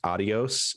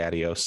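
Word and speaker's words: adiós: called adios this week i'm aware that it's pronounced adios in in correct pronunciation but this game specifically omits the accent and it's because it's trying to evoke the like way that people who don't know how to speak spanish say adios sometimes i don't really know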